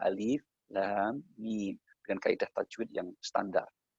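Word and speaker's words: الم: Ada yang tidak tahu mungkin membacanya dikiranya alama. Padahal itu alif, huruf alif kita baca alif, huruf lam, dan huruf mim. Maka alif, lam, mim.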